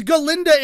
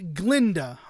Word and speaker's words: Galinda: there is an a her name is spelled g a l i n da in the novel and in the thing no and apparently she's ginda in the freaking Ariana Grande is playing ginda not Glenda I'm so I'm so